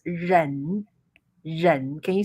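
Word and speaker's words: 忍: Yeah, the meaning of the letter is pronounced ren.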